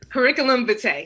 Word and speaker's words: curriculum vitae: one that start with a v i can't pronounce it cb cv curriculum vitae there you go curriculum van yes curricular curriculum vitae yeah cv so so what's your rule of